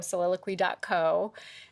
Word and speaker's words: Soliloquy: Everyone wants to spell it QY, and they don't know how to pronounce it. Yeah. Soliloquy. Yes.